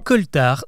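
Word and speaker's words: coaltar: parler prochain podcast demain coltar ça s'écrit C O A l t a r alors c'est vrai que ça fait bizarre et pas très français mais justement c'est parce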